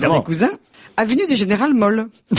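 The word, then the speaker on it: Mohl: Monsieur et Madame Bith habitaient dans le 16e arrondissement, évidemment, parce que c'est des cousins, avenue du Général Moll. M-O-H-L, évidemment. Prononcé à l'allemand, le Moll.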